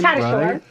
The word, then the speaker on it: Tatasciore: Tatasciore. Here we go. Well, yeah, you got the real pronunciation.